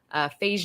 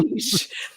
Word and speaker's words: Feige: Wait, how do you say it? Wait, you say Phage. I see Feige. How do you say it? Feige. Feige. Spell beige. The color beige. I'm not good at speller. BEIGE is beige. Feige.